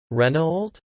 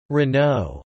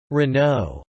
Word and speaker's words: Renault: this french multinational automobile manufacturer how do you pronounce this brand reynold no it's wrong the right pronunciation is renault renault renault speak once more renault yes perfect the renault corporation was founded on